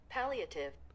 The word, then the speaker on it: Palliative: Pronunciation. Palliative.